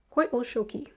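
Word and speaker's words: Coyolxauhqui: Koi o shoki is how it is supposed to be pronounced.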